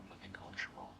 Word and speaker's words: cultural: Secondly, cultural cultural and just like ritual and temperature from earlier that tu sound is a ch. Cultural temperature ritual ch.